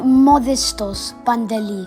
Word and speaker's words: Modestos: built on the spot that modis so pantaly it's actually modestos mom forgot this lost his life now